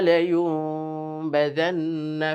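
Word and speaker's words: لَيُنْبَذَنَّ: নুন সাকিন সেটাকে মিম দ্বারা পরিবর্তন করতে হবে, যেটাকে আমরা নুন সাকিনের নিয়মের ইকলাব বলি, পরিবর্তন করে পড়া। তো লায়ুমবাযান্না, মিমের একটা আভাস নিয়ে মিমের মতো উচ্চারণ করে তারপরে আমরা পড়ব।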